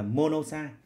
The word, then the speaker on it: monoxide: Là chúng ta nhớ thầy nhé, nếu đây là một nguyên âm này thì ta bỏ, thì ta đọc luôn là monoxide. Tương tự thế, penta thì